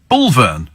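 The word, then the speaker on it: Bulphan: Near to Brentwood is a village called Bulpen, pronounced Bulvern, says Mark.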